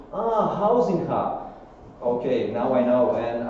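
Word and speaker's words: Huizinga: say it like this housing hub because it's a proper way to say it in croatia and in the world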